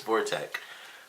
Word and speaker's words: Vortec: I almost say Vulcan every time I'm about to say his name, but it's Vortec. But that was definitely fun.